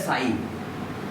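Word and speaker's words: ψ: Water potential या solute potential, देखो एक ग्रीक सिंबल है साई। क्या इसको बोलते हैं? त्रिशूल। त्रिशूल नहीं बोलते, इसको बोलते हैं साई, ठीक है। PSI, P भी साइलेंट है इसमें।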